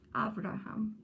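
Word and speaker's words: אברהם: So you start that with Av. All right? So Abraham. Abraham. Yes. Avraham is how they say it.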